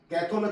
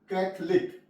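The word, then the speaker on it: Catholic: silent है फे फे रट फे रट य साइलेंट है चौक लेट य इसको चकलेट नहीं पढ़ेंगे चौक लेट कलिक कैथल नहीं प तो गल होगा कैथलिक कम कंफ कंफर कंफ टेबल कंफर्टेबल य ओ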